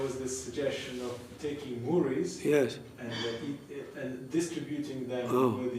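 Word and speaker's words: mudi: chip rice yeah murray it's actually spelled m-u-d-i there's moody and there's chida they pronounce it murray there's muddy yeah which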